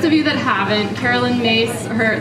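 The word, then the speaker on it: Myss: here heard of Carolyn mace yeah okay um well for those of you that haven't Carolyn mace her the spelling of her last name is m yss but it's pronounced mace and she's kind of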